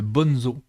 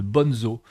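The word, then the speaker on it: Bonnezeaux: de paille vous avez le bon zoo alors c'est ça s'écrit B O n e Z a u le bon zoo et ça c'est un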